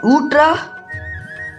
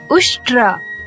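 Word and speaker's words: उष्ट्र: Utra? You mean Ushtra, right? Yes, Ushtra.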